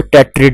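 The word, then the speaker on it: tetrad: इसी वजह से इनको टेट्रिड भी कहा जाएगा। ठीक हो गया। टेट्राड कह लें या टेट्रिड कह लें, ये प्रोनाउंसिएशन का फर्क है।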